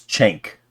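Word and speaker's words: Cenk: this guy's name right it's chank chank chank it's feels wrong saying it right cuz it's awful like really close to that other slur uh labeling Trump as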